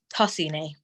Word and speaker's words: Tosini: Am I pronouncing that correct? Like, I guess. Wait, say again? It's Tosini.